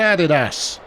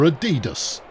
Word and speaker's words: adidas: out number one brand added ass or adidas for those of you who want to pronounce it incorrectly and Foley is there